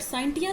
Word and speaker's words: scientia: इज a English word, और ये Latin word साइंटिया से डिराइव है. जो है इसकी स्पेलिंग है यहाँ पे SCIENTIA, साइंटिया, which means square, SCIRE.